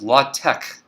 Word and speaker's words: LaTeX: it's spelled um so this word right here which is exactly the same spelling as latex in the sense of that rubbery stuff is pronounced la tech in the context of